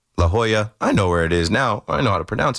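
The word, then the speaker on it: La Jolla: Remember the call where I I don't know, I said La Jola, La Hoya. I know where it is now. I know how to pronounce it now.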